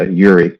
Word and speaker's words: Yuri: Uh, um, my last name is pronounced uh, Yuri, just in case you see my name again, so Oh, Yuri.